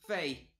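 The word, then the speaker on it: Fae: I'll plug it at the end, I don't feel like... Yeah. Okay, is it Fe? Is it Fee? Is it Iron? Fey. Fey. My bad. Fey. Iron. They said it. They said it in the direct. Fey.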